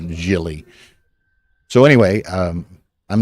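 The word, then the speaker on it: Gili: how he pronounces it I think it's Jill Jilly g-i-l-i but I think he's uh Israeli and that's pronounced uh Jilly so anyway um I'm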